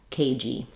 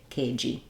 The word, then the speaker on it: cagey: we add letter Y so Edge edgy cage kg um so the same idea of the J being on the second syllable and in cage this letter e makes the a say its name so we have the a dip thong K kg but in bogy or